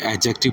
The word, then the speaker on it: adjective: समझ लीजिए इसकी प्रोनंसिएशन इसमें जो डी है डी साइलेंट हुआ करता है आपने एडजेक्टिव नहीं पढ़ना है बल्कि एडजेक्टिव पढ़ना है जे के साथ प्रोनाउंस करना है और यह भी